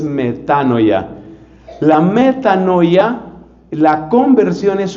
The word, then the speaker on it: metanoia: Y ese cambio profundo de mentalidad es lo que la Biblia llama metanoia, aunque la pronunciación más correcta en el griego es metanoya.